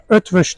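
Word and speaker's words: Eötvös: Bunun yanında Macaristan'dan eee Elte'de Etw Ötvş diye okunuyoruz, okuyoruz.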